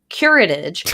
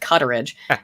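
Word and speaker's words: curettage: also called dilation and curatage i couldn't pronounce right curetage i said cutterage a little dyslexic there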